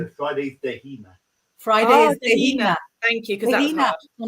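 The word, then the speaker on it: Dé hAoine: So let's get the pronunciation. So Friday's Dehina. Friday is Dehina.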